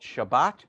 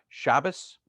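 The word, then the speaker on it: שבת: sabbath can be called shabbat that is a sephardic pronunciation the ashkenazi pronunciation is shabbos um the prayer shawl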